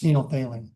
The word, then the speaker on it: phenolphthalein: And the P is silent. It's like pneumonia.